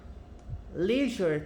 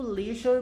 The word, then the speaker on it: leisure: Leisure time, eu falo leisure, mas eu já vi também a pronúncia leisure.